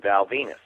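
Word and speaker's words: Val Venis: World Wrestling Federation Champion Val Venus is that because it rhymes with penis what it does he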